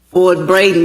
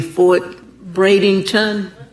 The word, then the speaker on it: Fort Braden: in my ear and told me that I was mispronouncing Fort Braden. He said I was saying Fort Bradenton. Is that what I said? He said I continue to say Fort Bradenton, so I apologize.